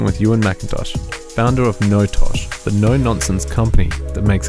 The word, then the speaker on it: NoTosh: a bit about yourself and a bit about notosh is that how you say it no tosh that is how you say it although it's